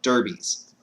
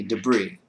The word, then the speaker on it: debris: and for whatever reason the word came out Derby's. But the word was supposed to be debris.